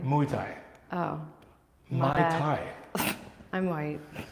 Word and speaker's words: Muay Thai: He's spelling it right and you're saying it wrong. How do you say it? Are you saying Muay Thai? Muay Thai. Muay Thai.